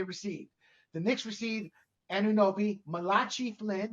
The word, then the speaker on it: Malachi Flynn: the Knicks received anunobi Malachi Flynn is that how you pronounce it Mal Malachi Malachi Flynn that's it yeah yeah yeah I've heard